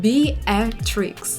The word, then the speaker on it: Beatrix: pronounced in the original In English they clearly pronounce it like Be A Trix But Farah immediately realized